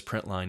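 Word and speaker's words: println: l in and so we're just going to pronounce this as print line even though it doesn't have the full word that's important to remember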